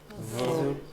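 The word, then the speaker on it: ҙур: Зур. Так, Селестин молодец, все получается. Так скажи, какая особенность у слова дур? Межзубный слог. Межзубный. Да. Межзубное произношение. Ага, единственное слово, которое начинается на На «з».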